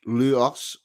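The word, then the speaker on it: Lewes: peaceful country town of Lewis pronounced luos or l e susex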